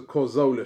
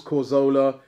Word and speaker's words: Cazorla: Adam says, plain and simple, it was the Cazorla show.